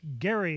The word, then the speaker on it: Gerry: face of protests from anti federalists including Elbridge Gerry of Massachusetts I've learned to pronounce it identically gerrymandering not gerrymandering and Edmund